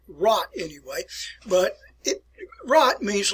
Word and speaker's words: Rat: And if you ever see the word Rat, and people pronounce it rat, but it's not that, it's called rot anyway.